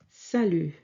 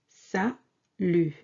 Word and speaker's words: salut: Hello in French is simply salut. Salut. Sa, S-A, sa, and lu, L-U-T. Yes, this T is silent. We don't pronounce it.